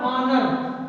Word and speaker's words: honour: जैसे पहला हमने लिया है HONOUR, इसका उच्चारण होता है ऑनर, क्या होता है, ऑनर, यानी ये साइलेंट वर्ड है, पहला अक्षर क्या है, आ, तो क्या मिलेगा, ऐन।